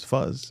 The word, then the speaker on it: Fuse: Fuzz? Fuse. Fuse. Yeah. Fuse. Fuse like a Yeah. fuse box.